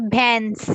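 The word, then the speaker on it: بھینس: it's a bans in Urdu, bans. Pans. Yes, Oh, bans. just bands or pan. P or b? Sorry. B sound ban.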